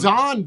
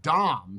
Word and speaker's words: Don: Don though. It's not Dom.